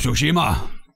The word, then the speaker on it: Tsushima: Ghost of Tsushima.